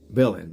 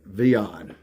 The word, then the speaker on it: Villion: video is about the the name is french it's spelled just like it's sounds villain the v-i-l-l-i-n couldn't thank for better name especially for this story but around here folks called him veon and so either way